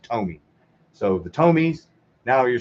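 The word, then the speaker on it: Tomy: I kept saying Tommy last night, and that was pissing me off when I watched that. It's pronounced Tommy.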